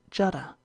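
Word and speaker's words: Jeddah: supposed by the Persians jeda or jeda is the vulgar pronunciation and not a few of the Learned call it Jada the grandmother in illusion to the legend of Eve's tomb and footnote bergart in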